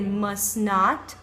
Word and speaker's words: must not: must Open certo e a negativa forma negativa do must você pode dizer must not must not tá sem a pronúncia do T também aí must not ou então dessa forma aqui que seria must você não vai pronunciar o t do meio então você não vai dizer must você vai dizer must must então da mesma forma